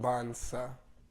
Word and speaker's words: Dibansa: Dibansa. Dibansa. Forget the T's there, silent.